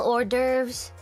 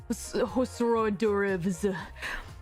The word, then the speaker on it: hors d'oeuvres: Smell hors d'oeuvres. Indeed, all kinds of hors d'oeuvres. I can never pronounce it correctly.